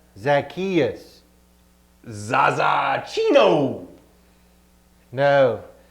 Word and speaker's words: Zacchaeus: that's the new command love one another so who are we talking about tonight zakka chuchu no it's pronounced zacchaeus zaza chino no say it with me za ki us zak cheeto i don't think he's ever gonna